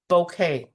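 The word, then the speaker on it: bokeh: for you this is bouquet paper it's it's pronounced almost like a bouquet of flowers but it's spelled differently but it is the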